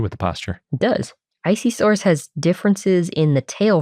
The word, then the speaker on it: Isisaurus: Planet they go with isisaurus so that's what we're doing yep I kind of like that they say I at the beginning of it since it's isi yeah